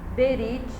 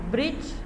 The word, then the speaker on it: berit: Então, o termo hebraico para aliança é berit. Hoje em dia a gente pronuncia pouquíssimo esse né? E alguns chamam de brit, né? Porque o é bem rápido.